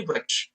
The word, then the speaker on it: वृक्ष: जैसे यहाँ पर एक और शब्द हमने देखा वृक्ष, हम इसको गुजराती में वृक्ष कहते हैं। एक्चुअल में अगर इसको सही से अगर इसका उच्चारण किया जाए तो इसको कहेंगे वृक्ष, वृक्ष।